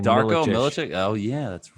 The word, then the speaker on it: Darko: His first name rhymes with Larko. Last name Darko Milicic.